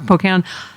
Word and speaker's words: Pocan: Our friend Dean Obadala tweeted, Congressman Marc Pocan, what did I say? I said it right. Yep. Okay. They make me nervous now that I'm going to say it wrong. Pocan.